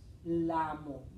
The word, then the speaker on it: llamo: Cuando le ponemos the Y, ok, o the double L, we pronounce it ya, ye, ye, yo, you.